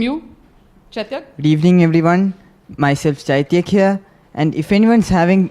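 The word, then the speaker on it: Chaithyak: it's a noun and if you want the correct pronunciation it is chaityak c-h-a-i-t-h-y-a-k hello this is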